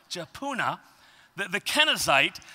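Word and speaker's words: Jephunneh: really hard on that and that's how it's pronounced jauna the the kenite said to him you know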